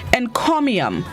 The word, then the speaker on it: encomium: day this morning's word of the day is encomium and comium it's spelt e-n-c-o-m-i-u-m and chromium it is unknown which